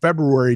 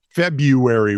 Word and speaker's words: February: a special election in February 2021. which just reminds me I got a note back from a client yeah you pronounced February wrong February now it's February I hate putting a little